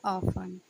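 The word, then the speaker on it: often: ए है afternoon, B है ऑफन, सी है ऑस्टन, डी है ऑफन। So friends O एफ टी ई एन में टी साइलेंट रहता है।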